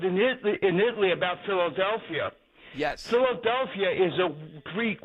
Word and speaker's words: Philadelphia: So in the Greek, when you put two letters together, like the P and the H, it sounds like an F.